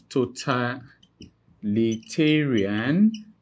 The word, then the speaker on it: totalitarian: What that simply means is that now 90% of English word that ends with I-N would always take their stress on, would always take, that ends with I-N would always take their stress on the penultimate syllable, which is the second to the last syllable.